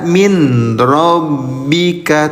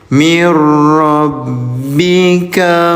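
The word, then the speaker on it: مِن رَّبِّكَ: Cara bacanya leburkan bunyi nun sukunnya. Jadi jangan dibaca min rabbika, tapi lebur. Mir rabbika huwal haqqo.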